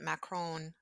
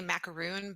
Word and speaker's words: Macron: 10 days after President Macron, I want to say macaroon, but I'm sure that's not how you pronounce it.